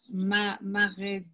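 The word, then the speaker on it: מרדכי: Maredachai. Beautiful. So say that again. Beautiful. The resh, Nicole, is silent. You say the resh by no vowels. So mar dachai.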